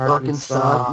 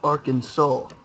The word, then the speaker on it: Arkansas: these people get me registrators Arkin sauce I pronounced it Aransas no no I pronounced it that on purpose Arkansas must be pronounced Arkansas at Arkansas State University two people cannot hold